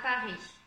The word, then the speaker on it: Paris: Par exemple, ici on dit Paris, on ne va pas dire le S.